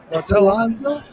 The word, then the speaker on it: Fratellanza: So the proper way, we got to learn it. Fratellanza.